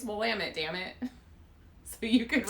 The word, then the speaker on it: Willamette: went to school in willamette county it's willamette dammit not willamette that's not people there were like posters it's willamette damn it so you